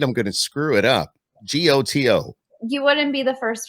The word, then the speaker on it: Goto: gonna screw it up g-o-t-o you wouldn't be the first one yeah i always tell people it rhymes with photo okay goto yeah i